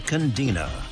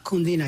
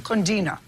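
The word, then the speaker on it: cundina: Pronounce it for me. A candina. Condina. Yes, ma'am. Condina.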